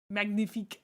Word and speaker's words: magnifique: You don't pronounce the G in magnifique. Magnifique.